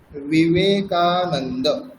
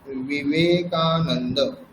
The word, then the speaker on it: বিবেকানন্দ: ব বলতে বর্গীয় ব, বর্গীয় ব আর অন্তঃস্থ ব দুটির মধ্যে উচ্চারণ পার্থক্য আছে। যেমন অন্তঃস্থ বয়ের উদাহরণ হচ্ছে বিবেকানন্দ, বিবেকানন্দ, বিবেকানন্দ, এটা হচ্ছে অন্তঃস্থ ব।